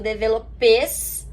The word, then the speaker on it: développé: Quando eu tenho um S no final da palavra em francês, eu não pronuncio, esse S é mudo. Então, por isso que eu escrevo développés, né, na verdade, com